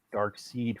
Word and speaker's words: Darkseid: or when uh but with Darkseid a lot of people pronounce it dark seed for the longest time well yeah because the way it's spelled and it's just uh